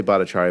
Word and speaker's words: Bhattacharya: I say Bataria, but my cousins think I don't know how to pronounce it.